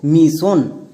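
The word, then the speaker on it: mission: জানতে হবে secret tips এর মাধ্যমে যেমন দেখো মিশন এবার এই ওয়ার্ডের একদম শেষে ওয়ার্ড প্যাটার্ন আছে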